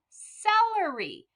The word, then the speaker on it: celery: vegetable and it's called celery so you see how that c actually makes a s like an s well that is called